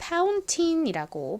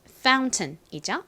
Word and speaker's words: fountain: 분수, 한국식으로는 fountain이라고 보통 쓰는데요. 미국식 발음은 fountain이죠. fountain.